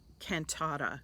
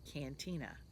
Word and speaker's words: Cantata: wrong every time uh cantata I always want to say Cantina and that is wrong it's Merino and cotton